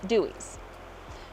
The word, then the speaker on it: Dewees: This is spelled D-E-W-E-E-S. In my mind, it's Dewees. No, it's Dewees.